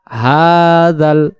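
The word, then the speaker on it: هذا: হাল লাম জবর জাল হাজাল হাজাল এ জাল অক্ষরটা জিব্বার আগা দিয়ে লামকে ধরবে জাল যদি বলি হাজাল তখন এটা জিম অক্ষরের আদি হতে পারে এখানে এখানে জিম অক্ষর নাই জিম জবর জালের বেলায়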